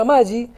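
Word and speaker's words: ama-gi: Se pronuncia Amagi, es una inscripción cuneiforme sumeria, cuyo significado es la primera de la humanidad, significa libertad.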